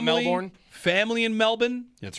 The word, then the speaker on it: Melbourne: I have Melbourne, family, not Melbourne.